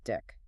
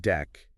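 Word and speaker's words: deque: Let's talk about Dick. The dick pronounced deck is a wonderful list-like container.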